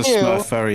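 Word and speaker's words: SMRF: that that is a Smurf event so I I mean he has confirmed that it is pronounced Smurf so SM that is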